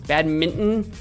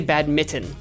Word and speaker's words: badminton: zen masters of badminton you guys pronounce the n in minton badminton i usually just say bad mitten but every now and